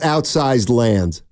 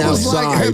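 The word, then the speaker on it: Outside Lands: Evan, give me the biggest act this weekend at Outsized Lands. Well, first of all, it's outside. I mean, outside. I've been pronouncing it wrong, which would have been a shock.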